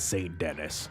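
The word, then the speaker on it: Saint Denis: St Dennis and Blackwater Yes you heard me right I said St Dennis if you pronounce it any other way you are OB objectively incorrect Valentine was closest to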